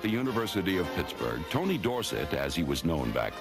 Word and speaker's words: Dorsett: And anyway, Dorsett is supposed to be a French name, and S-E-T-T spells set and not sit. So I think that is the correct pronunciation.